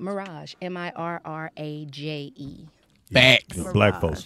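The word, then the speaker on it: Mirraje: You say it like the hotel, but you spell it.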